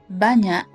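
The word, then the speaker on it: banyak: when you use them how to pronounce banya and sang it generally it is pretty hard to pronounce the NY and NZ part in both ways however it is not impossible Banna is similar to NY in Kenya sonot is similar to an and G in hangar the easiest way is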